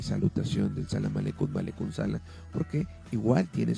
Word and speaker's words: Salam Aleikum: Bien, en relación a esta salutación de Salam Aleikum, porque realmente como se pronuncia, le reitero, es Salam Aleikum, significa que la paz sea contigo.